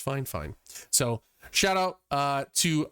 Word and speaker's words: FiFine: fine microphone that is spelled f i f i n e but pronounced fine fine so shout out uh